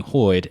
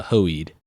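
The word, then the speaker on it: Hoid: insulting you know it it keeps mispronouncing his name as a as a you know not being hoyd it was a hoed and you know he's like oh yeah that's what I said a hoed um and it's you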